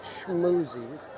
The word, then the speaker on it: Schmoozies: And then I was thinking I might get the affogato over here in DCA at Schmoozies, that's how you say it, Schmoozies.